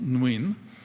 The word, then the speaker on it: Nguyen: It's pronounced Nguyen.